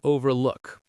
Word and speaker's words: overlook: Stresses on afraid and look in overlook.